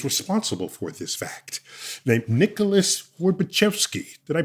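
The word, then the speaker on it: Nicholas Horbaczewski: And so we had to bring in the person who is responsible for this fact, named Nicholas Worbachevsky. Did I pronounce that right, Nicholas?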